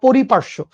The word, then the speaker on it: পরিপার্শ্য: পারিপাষ্যিক ব্যবস্থা বলা হয় পরিপার্শ্য মানে সহজ সঠিক উচ্চারণটা পরিপার্শ্য ঠিক আছে আর অন্যভাবে আমি যেটা